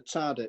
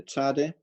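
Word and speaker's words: צדי: course beginning with the Tzadeh. That little thing above there is to show where the klemtoon ligt, where you put your first accent. Tzadeh, niet tzadeh, but tzadeh.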